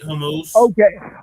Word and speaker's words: Hormuz: How you pronounce it? Right. Yeah, you got it right, Hormuz.